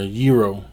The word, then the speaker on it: gyro: net a gyro well I said a gyro or hero you know the two ways they pronounced it so I'm cinder waiting